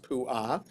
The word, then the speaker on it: Puah: So the accent mark was actually on the second syllable as well. Oh, it is on the second syllable too. Okay, so it is pronounced puah.